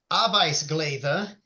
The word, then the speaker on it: arbetsglädje: And in Swedish, they actually did this already for someone who's really happy just working, and it's pronounced arbetsglädje, and it just means someone who's glad to work.